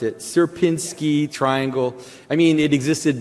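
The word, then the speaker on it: Sierpiński: Um uh so this is something called the suberski uh s how did you pronounce it? Serpinski triangle.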